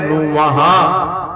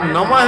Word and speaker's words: नमः: विनाशय श्री कृष्णाय वयम नम विद्वान शंका में ना पड़ेंगे नम ही लिखा है प्राचीन संस्कृत भाषा में नमः नहीं बोला जाता नम का ही उच्चारण होता है इसलिए महात्म खंड की